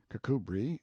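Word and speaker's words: Kirkcudbright: Banks sellers vicount Berkeley of chundy Castle Warwickshire pronounced cbri Slover Marshbank sellers vicount Barkley of Chumley Castle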